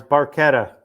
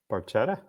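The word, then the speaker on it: barchetta: Well, in Italian, when you have a C and an H together, they make a K sound because there's no K in the Italian alphabet.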